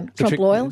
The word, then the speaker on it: trompe-l'oeil: Trompe-l'oeil. Oh, yeah. Trompe-l'oeil.